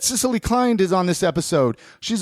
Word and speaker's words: Cicily Kind: We're chatting with Cicily Kind. Yeah. I pronounced it right?